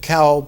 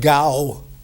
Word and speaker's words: Gao: Today, in Pinyin, you do not pronounce it Cao, but Gao.